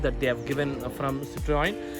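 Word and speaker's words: Citroën: the citroen yes and many people used to call this suv as citrion citroin but i am going to pronounce this as citroen yes and in case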